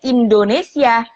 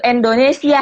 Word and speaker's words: Indonesia: Kayak kalau kita bilang Indonesia ya kita sebutnya Indonesia, jangan ada yang sebut i-nya jadi e gitu, Indonesia gitu, atau sia-nya jadi sya gitu.